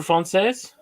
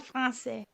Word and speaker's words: français: Parlez-vous français? Oui, je parle français. That's all I know how to say. I'm sorry. No. And you don't pronounce the S when you say français.